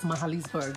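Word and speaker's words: Magaliesburg: ebella reporting live from the mount great hotel mahalisburg it's actually spelled magaly's bird but pronounced mahalisburg yep i lent that one today and it's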